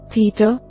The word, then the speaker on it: theta: In ancient Greek, a more aspirated version of the T sound in the English word top. Think of making a T sound, followed immediately by a separate hard H sound, as in the English phrase hothead.